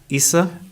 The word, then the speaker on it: Ahmed Isse: His name is Ahmed Issa. Yes, Ahmed Issa. You Ahmed pronounced it Issa.